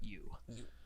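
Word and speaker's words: Ehu: uh yeah first seeker you now it's a weird one this is above table stuff it's spelled e-h-u but said you yeah all right and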